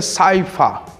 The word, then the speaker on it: Saihua: No item 19, temos a forma Saihua. A pronúncia aproximada seria Saifa. Não há uma letra correspondente para F em coreano.